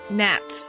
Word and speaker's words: gnats: Gnats. Okay, it's gnats. So the G is not pronounced.